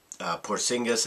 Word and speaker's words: Porzingis: It was interesting, though, the Knicks picking Porzingis, I believe is how you pronounce his name, and basically he almost got booed out of the building.